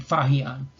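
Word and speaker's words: Faxian: And the two well-known are pronounced Huan Sang and Fahian, and these they arrived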